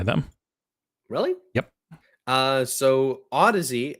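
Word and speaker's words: Audeze: Uh, so Ody, as as Jesse uh rightly fixed my pronunciation, my initial pronunciation of Audi's.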